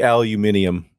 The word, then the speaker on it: aluminium: And it should be aluminium. It's It's spelled the British way. Oh, is it spelled the British way? Probably because of chromium, right? It's intended to rhyme.